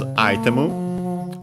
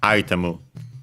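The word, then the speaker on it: アイテム: The accent is on the first syllable, just like in English. Item, high, and everything else low.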